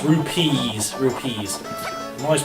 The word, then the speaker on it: rupees: plenty of rubies now i say ruby but it's rupees rupees i'm always pronouncing